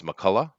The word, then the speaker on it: McCullough: Now, first thing I want to know, I'm assuming, that you have the American pronunciation of your name, and it's McCullough.